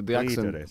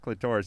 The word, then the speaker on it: clitoris: She said, it's not clitoris, it is clitoris.